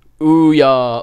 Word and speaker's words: Ouya: Oh, it's pronounced Ouya.